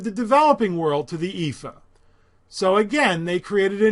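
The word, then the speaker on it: EAFE: other than the United States was called the epha and that's how it's pronounced it stands for Europe Australia and the Far East but they never added the developing world to the epha so again they created a new index that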